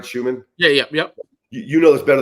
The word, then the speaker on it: Schuman: And once again, Coach Schuman, did I pronounce that right, Schuman?